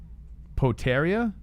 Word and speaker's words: Potieria: oh a nice leg kick by Podi area potaria oh they're called potaria all right poteria let's go that's easy enough potarius creeping in oh walks into a knee by Sadowski potaria comes in with the oh the right hand